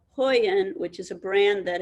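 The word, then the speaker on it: Huion: said they range between 50 for something called hoyan which is a brand that has just um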